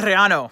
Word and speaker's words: Arellano: I have my friends Lisa Caprelli and Rob Arellano. Did I say it right? You got it. All right. Oh, man, I got to... You can roll your R, but other than that, Arellano.